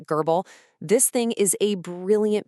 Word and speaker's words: GRBL: And yeah, it's pronounced gerbal.